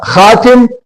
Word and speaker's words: خاتم: ہے۔ اب خاتم ہوتا خاتم، یہ ہے خاتم۔ تو خی کے اوپر زبر، الف سائلنٹ، اور تے کے اوپر زبر اور میم سائلنٹ۔ تو خاتم، خاتم کہتے